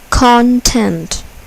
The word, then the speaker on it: content: Content. Content. Here, the first syllable is accented. Content.